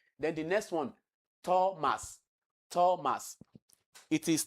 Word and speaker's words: Thomas: So it is not Thomas. It is Thomas, like you have in tell. Thomas.